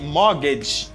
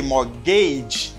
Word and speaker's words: mortgage: and for this word you say mortgage mortgage mortgage if you say more gauge it's not okay because here you don't